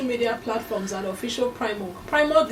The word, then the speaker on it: PRIMORG: PRIMOG is spelled PRIMORG, and we are streaming live on Facebook at Official PRIMOG.